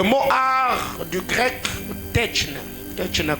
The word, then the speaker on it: techne: Le mot art du grec techne, techne comme je le prononce, de T-E-C-H-N-E.